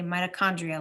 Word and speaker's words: mitochondria: needs to go oh mitochondria there's another CH that sounds like a K in our science words we don't say CH like normal CH we say mitochondria like a k sound supplies energy to the